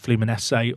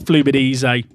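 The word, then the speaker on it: Fluminense: I know that flumines is pronounced like fluminese or something close as that. Not flubid easy.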